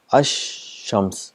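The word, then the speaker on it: الشمس: silent and the sound of sheen is doubled ash shams the two times it's a compensation and there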